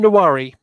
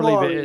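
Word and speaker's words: Nwaneri: Nawari, it's a weird pronunciation. Ethan Nawari. I believe it Nawari, is.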